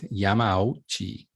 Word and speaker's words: Yamauchi: And I think it's Yamauchi. Okay, so let's try to pronounce it all at once.